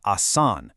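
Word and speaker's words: आसान: our first adjective is assan, which means easy. And I promise you, with consistent practice using structured methods exactly like this, mastering Hindi truly is assan. Listen to those elongated ah sounds.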